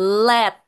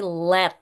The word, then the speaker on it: lead: Let atau timah kalau enggak salah ya. Jadi bacanya bukan le tapi let.